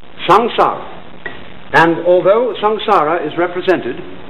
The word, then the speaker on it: samsara: Sanskrit sa M s a a samsara it's pronounced samsara and although samsara is represented in popular Buddhist